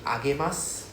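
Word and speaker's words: あげます: Agemasu.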